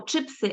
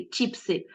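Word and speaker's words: чипси: вимова звуків і звукосполучень Наприклад ми кажемо чи пси а не чіпси ґудзик а не Гудзик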